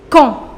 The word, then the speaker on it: quand: Now the fourth conjunction is quand. Quand. Quand, which means when. Quand. The pronunciation is quand, not quand. No, it is quand.